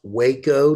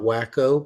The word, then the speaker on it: Waco: case you were wondering it is pronounced Waco not wacko but that has not